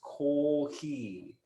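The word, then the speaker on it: コーヒー: It's cardigans, except this is how they get to it is that in Japanese, coffee is pronounced kohi.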